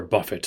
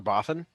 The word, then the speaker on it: Buffett: Tell him Pastor Buffett sent ye. Pastor Boffin? Buffett. Buffett. Oh my Pastor God. Buffett.